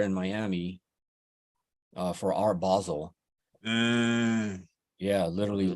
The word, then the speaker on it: Basel: was just there in Miami uh for our Basel yeah literally like a month that's a big deal yeah we that's pronounced Basel Basel huh I didn't know that yeah yeah me